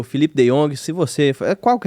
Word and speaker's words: De Jong: De Jongs aí. 3, Tá vendo? O nome é Teve. diferenciado. Mas pronuncia De Jong.